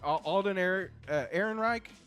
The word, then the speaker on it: Alden Ehrenreich: Alden Ehrenreich, I believe is how you say his name.